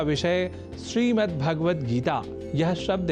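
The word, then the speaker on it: श्रीमद्भगवद्गीता: यह शब्द ही है जैसा कि मैंने उच्चारण किया श्रीमद् भगवत गीता जिसे अनवत वश हम श्रीमद् भगवत गीता या श्रीमद् भागवत गीता या भागवत गीता कर जाते हैं जो सर्वथा अशुद्ध है इन उच्चारण में स्वर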